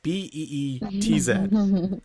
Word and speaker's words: Beetz: So, the Zazie Beetz, like it's her last name is spelled. Is that a real name? Yeah, Zazie Beetz, Beetz.